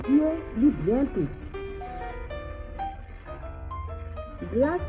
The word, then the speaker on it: Dieu: In pronouncing the vowel, your jaws should be slightly apart and should not move open or closed positions.